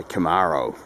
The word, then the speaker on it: Camaro: That's our video review of our 1973 Chevrolet Camaro, or as the Americans say, Camaro.